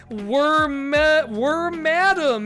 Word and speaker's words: Wormadam: Burmy, Wormadam, as we recently learned on stream it's pronounced.